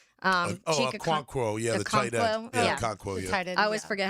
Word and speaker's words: Okonkwo: I always forget how to say his name, Akonwo. Okonkwo, the tight end. Okonkwo, tight end.